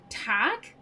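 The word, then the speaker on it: Tadhg: So, I'm familiar with the name Tadgh. Which is t a d h g, the d h is silent.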